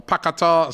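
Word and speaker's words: Paquetá: Emerson suchek Declan rice Lucas paqueta or pakata some people call him um apparently that's the correct pronunciation Bowen Antonio and Ben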